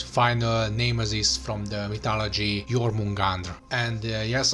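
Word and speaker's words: Jörmungandr: This is Thor, the god of thunder, and his final nemesis from the mythology, Jormungandr. And yes, I'm trying to pronounce them the way they should be pronounced in Icelandic, and if nothing else,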